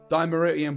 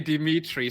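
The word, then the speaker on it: Dimeritium: Dimeridian Bomb, which Mr. Habla has been training me how to say properly, is... he's actually said it right. He didn't say Dimitri.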